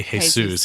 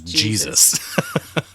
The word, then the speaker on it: Jesus: I love that he's a Latino, but he pronounces his name in the English way. Right. He doesn't say Jesus. He says Jesus.